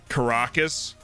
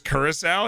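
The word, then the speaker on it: Curaçao: what's up max b i've been pronouncing it caracas all these years curacao yeah well being in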